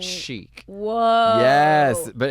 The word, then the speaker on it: chic: She says, cheek or cheap. which is a mispronunciation of chic.